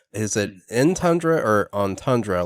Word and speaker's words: Entundra: so I'm uh want to make sure I'm pronouncing the name right it is in tundra right in tundra yeah that's just some people